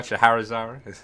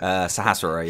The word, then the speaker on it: Sahasrara: How do you say this guy? Shaharazara? Sahasrara, yeah. You can say Rara.